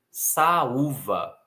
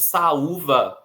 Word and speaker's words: saúva: Do outro lado, nós temos saúva e doído, também palavras que têm hiato. Nesse caso, o U formando hiato, sendo a sílaba sozinha e sendo a sílaba mais forte, né, a tônica, e doído também temos